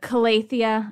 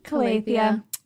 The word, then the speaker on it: Calathea: I know there's a lot of ways to say this, but Calathea, I like that pronunciation the best. Calathea.